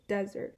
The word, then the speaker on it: desert: In the English word desert, the place where a cactus grow is the first syllable stress." So, desert. And then English word dessert, the second syllable is stressed.